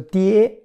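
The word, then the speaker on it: 爹: It's called a die. First tone. Like dad, daddy, die, die, die.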